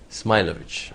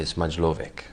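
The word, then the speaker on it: Smajlović: Don't you say Smailovic? Smilovic. Smilovic, yeah. Yeah, but because they anglicize my name, so they say Smajlovic.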